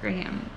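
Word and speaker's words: Grahame: Author, Kenneth Graham? Is that how you say it? Yeah. Graham.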